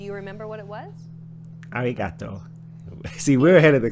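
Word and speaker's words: ありがとう: sound at all neat it's like a mixture between an R and an L sound me there's no such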